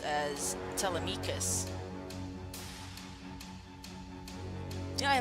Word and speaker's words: Telemachus: I don't know if it's pronounced Telemachus. I mean, the songs in Epic pronounce them as Telemachus, but in other iterations it's pronounced as Telemachus.